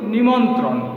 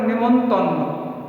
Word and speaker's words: নিমন্ত্রণ: যেমন ধরো আমরা বলি কি নিমন্ত্রণ, নিমন্ত্রণ আসল প্রকৃত শব্দ, কিন্তু সেটাকে অনেকে বলে নেমন্তন্ন, ঠিক আছে? নেমন্তন্ন, এটা হয়ে যায় অর্ধ তৎসম শব্দ।